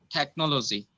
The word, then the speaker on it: technology: Technology. No, you are putting too much of efforts on no. Technology. Technology. That no sound is very soft.